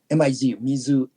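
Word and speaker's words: 水: Mizu, M-I-Z-O, Mizu, M-I-Z-U, no kokoro.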